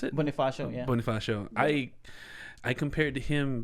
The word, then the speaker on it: Bonifacio: i was uh when you said uh andres boniface how do you pronounce it yeah bonifacio i i compared to him but i forgot